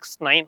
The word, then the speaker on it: XEV 9e: இதை வந்து பார்த்தீங்கன்னா B6, இது வந்து X9 அப்படின்ற மாதிரி ப்ரொனவுன்ஸ் பண்ண சொல்லி மகேந்திரா நிறுவனம் சொல்லியிருக்காங்க.